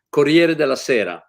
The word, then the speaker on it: Corriere della Sera: but maybe with Italy, apart from the impeccable pronunciation of Italian names. By the way, Brian, Corriere della Sera.